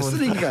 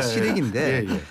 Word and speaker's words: 시래기: 이 시래기가 뭐냐 그러면 발음은 잘해야 됩니다. 시래기를 잘못 발음하면 쓰레기가 아니라 시래기인데 시래기가 보면은 무청, 배추, 잎사귀 이런 걸 이야기하는 거 아니겠습니까?